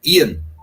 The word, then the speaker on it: Eoin: And under Ian Morgan, I think they pronounce it Ian, but whatever.